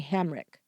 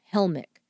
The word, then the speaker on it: Helmick: Then he asked her if she'd heard of Debra May Hamrick, mispronouncing the missing 9-year-old's last name, Helmick.